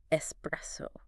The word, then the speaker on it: espresso: they really are but the correct pronunciation is just a nice simple espresso espresso okay I'm going to